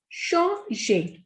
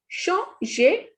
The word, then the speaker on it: changer: Next is changer. The pronunciation of E and R is A. So the pronunciation of this is changer, to change.